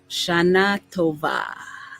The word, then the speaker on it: Shana Tova: Shana Tova, I believe is the correct way to pronounce it.